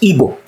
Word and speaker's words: Igbo: word it's just like the Igbo people which is properly pronounced in English evil never describe themselves as